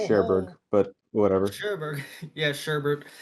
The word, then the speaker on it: Cherbourg: it's always sunny in I heard the people in the movie say sherberg but whatever sherberg yeah